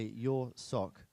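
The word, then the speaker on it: Jurczok: Okay, so I've got it officially from our German colleagues that if I say your sock, then I'm going to get the correct pronunciation for Victoria.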